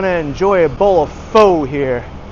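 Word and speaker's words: phở: enjoy a bowl of fo here. It's not faux, it's fur. Crank Road by AD. Actually, the way I said it was the Hanoi accent. In Saigon, it's different. In Hanoi, it's fur.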